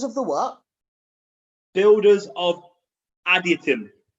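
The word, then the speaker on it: Adytum: Builders of Additum. It's spelled A-D-Y-T-U-M.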